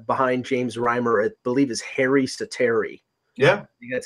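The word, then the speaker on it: Harri Säteri: now for Florida behind James rhymer believe his hair east of Terry yeah that's how you pronounce his name and you know he's had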